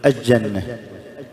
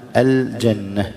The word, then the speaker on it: الجنة: النوع الأخير أو الصورة الأخيرة من هذه الصور إدغام اللام في بعض الحروف القمرية، مثل الجيم في الجنة، يقول الجنة، يقول الجمل، خطأ، القمرية لم تكن مظهرة، القمر، الشمسية، الحروف الشمسية تكون إيش مدغمة، الشمس لم ما تنطق، الشمس. أما بالنسبة يعني الحروف القمرية تكون اللام مظهرة، مثل الجنة، الجمل، الجحيم.